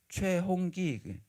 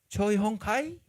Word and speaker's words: 최홍기: 최홍기 최홍카이? 발음을 이제 제대로 못하잖아요.